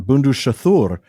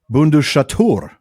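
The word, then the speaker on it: Bundushathûr: I've been calling that bundur, but it's bundaturur.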